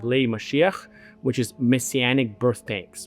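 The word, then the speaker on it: משיח: this going to be as part of I'll pronounce it in Hebrew it's called Mashiach which is messianic birth tanks.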